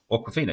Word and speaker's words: Awkwafina: Awkwafina, yes, that's how you say it.